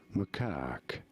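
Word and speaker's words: macaque: Macak. You do want to stress on the second syllable on the syllable. Macak.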